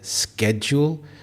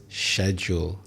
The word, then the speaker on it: schedule: There are two syllables, schedule. In American English, people would say schedule, but in British English, it is schedule.